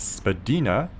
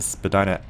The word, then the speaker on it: Spadina: streets in downtown Toronto originally pronounced Spadina taken from this ojibway word that I'm not going to try to pronounce meaning high place or Ridge Spadina Road stretches